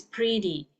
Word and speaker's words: pretty: You need to pronounce it as in Indonesian is like a D, okay.